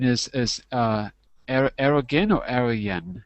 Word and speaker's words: Erdoğan: So, first of all, the pronunciation is Erdogan or Arayan? How do you say his name? Arrogant. No, the president. How do you pronounce his name? Erdogan. Prime Minister. Erdoğan.